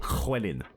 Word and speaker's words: Llywelyn: one of their heroes is called Llywelyn. Like, that's how you pronounce his name.